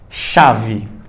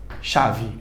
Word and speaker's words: chave: Você percebeu que o CH ele teve um som de X.